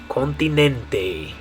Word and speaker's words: continente: In Spanish, the way we're going to say it is continente. Continente. So in English, it's continent. In Spanish, it's continente.